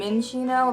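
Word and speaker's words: Minccino: user, if you know, Chinchino and Minchino, that's how you say it.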